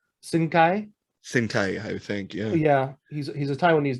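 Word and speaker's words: Hsin-Kai: pronounce uh asian gentleman h s i n dash k a i sing kai sentai yeah he's a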